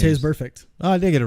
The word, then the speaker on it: Vontaze Burfict: Vontaze Burfict.